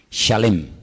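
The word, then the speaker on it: שלם: Se escribe exactamente igual que la palabra shalom, con las mismas letras, exactamente igual, pero se pronuncia diferente. Shalem.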